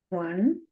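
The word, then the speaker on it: を: Next is W-O, but pronounced as O. Right? It is pronounced as O, but not typed. Right? So the pronunciation is O, not Wo.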